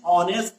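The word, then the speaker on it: honest: इसी तरीके से एन ऑनेस्ट मैन, एन ऑनेस्ट मैन, तो इसमें क्या है कि एच is silent here, so वी are using here N.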